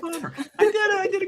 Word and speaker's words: Faber: we've been saying it favor and we've been saying it wrong all the time because when we went to Austria we discovered it his father so you're actually correct father I did I did